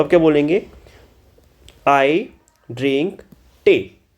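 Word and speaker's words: Tee: I drink टे। टी को German में टे बोला जाता है।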